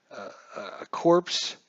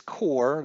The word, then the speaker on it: corps: say we had a corpse say we had a core I keep calling a corpse sorry about that it is core the S is silent I've heard that many